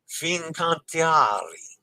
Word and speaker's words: Fincantieri: Fincantieri.